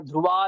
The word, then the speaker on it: ध्रुवा: ध्रुवा नहीं है, ध्रुवा। वा वह नहीं है, विसर्ग नहीं है। ध्रुवा नीतिर मतिर मम, ऐसा।